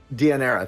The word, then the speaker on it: Deianira: And then we have and I always pronounce her name wrong. Deianira, thank you. I always want to call her Daenerys.